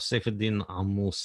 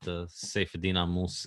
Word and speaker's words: Saifedean Ammous: Saifedean Ammous is how it's pronounced in Arabic, but Saifedean Ammous is good enough in English.